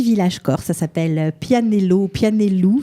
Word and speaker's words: Pianello: Ça s'appelle Pianello, Pianellou. Ça s'écrit Pianello, ça se prononce Pianellou, autour d'un greffon de